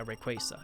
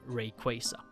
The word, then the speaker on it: Rayquaza: talking of course about Mega Rayquaza yes that's how you say it name Rayquaza instead of having to